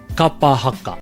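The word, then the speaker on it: kapa haka: Kaa ha K so if you can focus more on The Vow sounds being consistent ah I think you can really start to be able to pull that word together and say it properly Kaa haka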